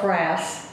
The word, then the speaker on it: frass: And we call it frass butterflies. Spell FRASS. Like rhymes with grass.